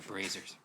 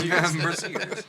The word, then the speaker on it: braziers: They're braziers. Braziers, yeah. Braziers. We, Ken and I played in a game of Pathfinder Society where the DM kept pronouncing braziers as braziers.